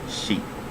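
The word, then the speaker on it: sì: sound flat toe mark so sun four is c so s i first tone mark going down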